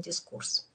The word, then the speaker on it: дискурс: у кого дискурс но меня убеждали что слово пришло из французской лингвистики поэтому правильный дискурс А я хотела сегодня